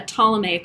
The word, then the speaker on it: Ptolemaic: ptolemaic map again and ptolemy just so you know is spelled with a p so it's p t o l e m y um so this is a pluto a patolomaic or a ptolemaic map recreation that was done